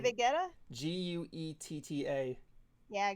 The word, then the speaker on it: Guetta: I can't pronounce the last name. David Guetta? Guetta. Yeah, Guetta.